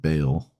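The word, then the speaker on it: Baal: Bale is b a a l's pronounced Bale.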